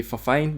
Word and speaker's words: Fifine: Pretty sure I'm butchering up the name, but well, it's spelled Fifine, so I presume it's fine. So cutting that NE out is gonna be Fifine.